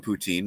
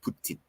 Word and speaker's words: poutine: So well, I can tell you that if you do return to our country, you must have some poutine, which for those who don't know is French fries and gravy with cheese curds.